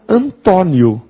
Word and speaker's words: Antônio: marcar a sílaba tônica porque Antônio é uma paroxitona terminada em ditongo ou então Antônio paroxitona terminada em DIT tonco Meu pai se chama Antônio e quando ele assina